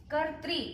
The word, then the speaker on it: कर्तृ: बच्चों यहाँ कर्तृ के उच्चारण में ध्यान देना बहुत जरूरी है। एक बहुत जो चीज आपको समझनी है और जिसका ध्यान रखना बहुत जरूरी है वो है कर्तृ। इसमें 2 मात्राएं हैं, एक तो ऊपर है